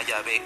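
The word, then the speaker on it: Yahvé: como los eruditos hebraísta apoyan la forma llave como la pronunciación más correcta más correcta mientras que los protestantes apoyan la palabra híbrida jehová que no tiene ningún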